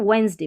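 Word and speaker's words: Wednesday: तो गलत आ जाएगी तो बोलते वक्त वेडनेसडे बोलना है उच्चारण इसका वेडनेसडे नहीं है ठीक है वेडनेसडे अब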